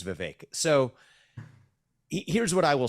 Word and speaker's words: Vivek: David uh so and thank you for saying my name correctly it is Vivek so here's what I